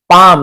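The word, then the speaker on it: palm: young mains युवक के, पाम, यहां पर भी एल को नहीं पढ़ना, पाल्म नहीं पढ़ना, पाम, पाम यानी हथेली को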